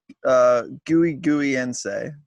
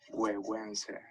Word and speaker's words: Güegüense: Since you've definitely worked on the pronunciation. Oh yes, it is the Güegüense by Foundation. Actually, hold on. Let me make sure I'm saying it right. Güegüense.